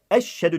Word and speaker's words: eşhedü: Değerli kardeşlerim, kelime-i şehadeti söylerken de eşhedü deniyor. Eşe yani sanki iki tane şe var gibi. Bu yanlıştır. Eşhedü. Eşhedü yani arayı ayırıyorum ki iyice anlaşılsın. Eşhedü enla değil şeklinde söylenmelidir.